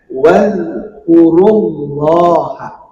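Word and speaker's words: وَاذْكُرُوا اللَّهَ: Maka membacanya harus masuk atau idgham kepada lafaz Allah. Maka harus dibaca dengan wazkurullaha. Nah, di situ dibaca dengan tafkhim. Harus dibaca dengan tebal ya.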